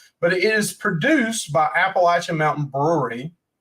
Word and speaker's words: Appalachian: Mountain Brewery it's cool you don't say Appalachian like those news people doing it's Appalachian yes it's not appellation it's not the Appalachian Trail Appalachian if you're North Carolina that's how you say it Tennessee Virginia Georgia you